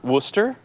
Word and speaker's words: Worcester: it I'm going it if you want to pronounce Worchester Worcester I'm down I will do that all day